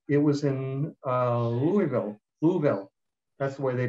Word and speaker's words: Louisville: visitor program um it was in uh louisville louisville that's the way they pronounce it um that i receive certified peer